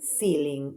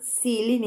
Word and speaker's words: ceiling: Now we have cabin ceiling. Well, they are different. Cabin is pronounced with K. Cabin. And ceiling is with S.